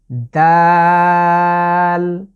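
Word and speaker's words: د: আমি জিভের আগাটাকে সামনের যে দাঁত আছে তার ঠিক গোড়ার সাথে লাগিয়ে, দাল। এখানে লক্ষণীয় হচ্ছে আমরা যে তা লেটারটি উচ্চারণ করেছিলাম ঠিক তা এবং দালের মাখরাজ একই একই জায়গা থেকেই দুটো লেটার উচ্চারিত হবে।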